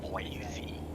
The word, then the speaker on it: Boise: Boise.